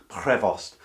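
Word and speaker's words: Prévost: i'm pronouncing that properly trying to catch that for the rs in french prevost now he's better known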